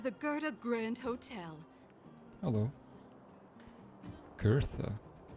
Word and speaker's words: Gerda: Gertha. Okay, that's how you pronounce it apparently.